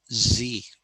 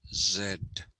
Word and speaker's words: Z: sorry so they basically talk about this as z that and so i think a time will come when our youngsters will not know that this was once pronounced zed okay and uh anyway